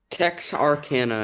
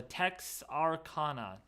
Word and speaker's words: Texarkana: do you say that Texarkana it's like the first Silo uh two syllables of Arkansas and the first syllable of Texas oh my goodness so text Arcana Texarkana exactly perfect I got